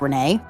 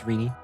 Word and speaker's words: Rini: I mean, that sounds like a fantastic idea, Rini, which is definitely spelled and pronounced Renee. No, it's Rini.